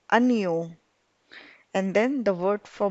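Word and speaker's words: año: anu so which means while pronouncing we'll believe that there is an i after the n so it becomes a neo and then the word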